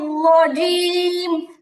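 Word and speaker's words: رجيم: মিনাস হ্যাঁ, রাজিম না। আচ্ছা, এবার এবার হচ্ছে রজিম শব্দটা দেখি, রজিম রত ফোঁটা, তারপরে হচ্ছে জিম, জিমের মাখরাজ কি, জিমের মাখরাজ হলো 6 নম্বর মাখরাজ করেছিলাম আমরা, যে জিহবার, জিহবা কেমন, জিহবার মাঝখান, জিহবার মাঝখান, জিহবারও 3টা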